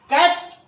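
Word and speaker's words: caps: कैप्स, कैप्स नहीं, ज नहीं, कैप्स, टोपियां।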